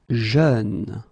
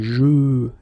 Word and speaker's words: jeune: Jeune. Same thing, you don't say je, you say jeune, okay?